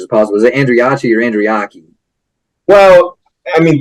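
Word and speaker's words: Andriacchi: of these Italian pronunciations as possible is it andrioti or andreaki well I mean different people may say it differently I mean I mean the correct pronunciation would be andreaki yeah yeah that's yeah that's what I've always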